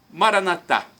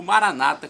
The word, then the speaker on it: Maranatá: Maranatá, como dizemos nós católicos, ou Maranata, como dizem nossos irmãos separados, os evangélicos ou protestantes.